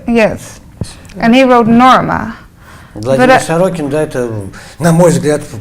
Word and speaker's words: Владимир Сорокин: I came across, I don't know how to pronounce his name, Vladimir Sokorin. Владимир Сокорин? Yeah. Или Сорокин? And he wrote. Writer? Yes. And he wrote Norma. Владимир Сорокин, да, это, на мой взгляд, просто один из самых лучших современных писателей.